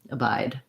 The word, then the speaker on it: abide: together with that so when you hear that abide by again i do my stopped d and i just release into the b so abide i close off for the d then i shut my lips bye abide by yeah